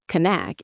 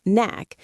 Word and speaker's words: knack: The pronunciation is interesting because the K at the beginning of knack is silent. We don't say kack. It's just knack.